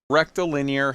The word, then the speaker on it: rectilinear: just say it, and they say it like it's near, rectal, like asshole, linear, like those are two separate words.